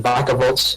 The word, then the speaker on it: Vikavolt: He's got some U-turn in Volt-turn in Vakavolt, or Vikavolt, depending on how you want to pronounce it.